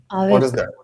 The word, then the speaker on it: avec: No, that is not that case because for example, certain consonants are pronounced. How about this? Tuk. For example, this one. Have you come across this one? Yeah. Avec. Avec.